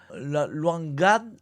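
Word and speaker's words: Lwanga: La longade ça s'écrit L W A N G A L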